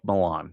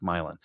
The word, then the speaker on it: Milan: It's spelled like Milan, but they they they pronounce it like Milan.